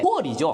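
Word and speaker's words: 普洱: 여기 보이현, 이 보이시가 돼 있는데 보이현 전에는 스마오 지역이었어요. 그래서 보이시 이게 중국 한문으로 돼 있는 보이시인데 푸얼이죠. 이 중국 발음으로는.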